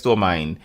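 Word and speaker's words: Stormind: it's spelled like Storm, STORM, and IND, so I guess Stormmind Cool.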